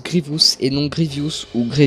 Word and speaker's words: Grievous: à propos de grievous car oui ça se prononce grievous et non de reduce ougrée diouf c'est l'erreur